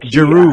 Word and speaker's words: Giroud: Giroud, is it Giroud? How you pronounce him? Like Giroud.